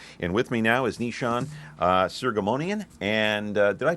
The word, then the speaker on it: Nishan Soghomonian: And with me now is Nishan Soghomonian, and did I pronounce that correctly?